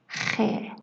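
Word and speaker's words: خ: To pronounce it, imagine that you're gargling. The sound you make while gargling is very close to this sound.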